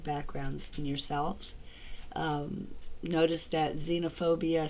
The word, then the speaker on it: xenophobia: in yourselves notice that xenophobia starts with the letter X but it's pronounced with a z I also want to